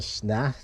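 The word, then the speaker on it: snath: it a handle, but it's actually called a snat. It's spelled S-N-A-T-H.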